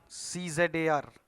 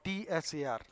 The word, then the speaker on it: czar: a movie Mogul or we sometimes say the movies are Czar or Tsar both pronunciations are accepted so a magnet is